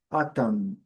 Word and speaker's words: autumn: Então, a pronúncia é autumn. Letra N não é pronunciada, e é o padrão